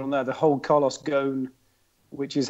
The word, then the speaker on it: Ghosn: The whole Carlos Ghosn, which is how you pronounce it.